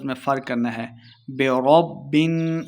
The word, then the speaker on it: برب: میں فرق کرنا ہے۔ برب، را کو با کے ساتھ ملائیں گے۔ برب الناس، نون مشدد